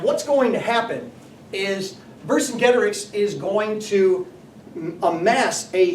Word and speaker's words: Vercingetorix: I've always pronounced it Vercingetorix, and so I might accidentally default to that. But Vercingetorix is a pretty epic Gallic hero and quite a military commander.